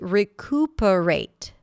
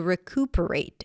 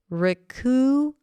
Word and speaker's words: recuperate: Okay, the next word is recuperate. Recuperate. To recuperate. It's a verb. Recuperate. Recuperate. Some people might pronounce it with a y.